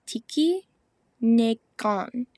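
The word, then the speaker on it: tikinagan: So how you pronounce that is Tiki Negon.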